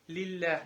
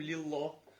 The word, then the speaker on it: لله: Когда мы говорим Аллах, то есть лям произносим грубо, а когда произносим мягко. Лиллях, например. Не говорим лиллах.